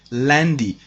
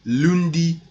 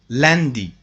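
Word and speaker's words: lundi: monday in french language um landy it is pronounced landy don't say lundy londy they are not correct landi landi landi tuesday kodi wednesday jody thursday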